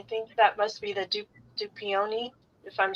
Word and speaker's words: Dupioni: Dupioni.